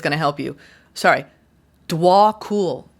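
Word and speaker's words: Djwhal: to help you sorry dwol is how you pronounce this person's name DW cool no known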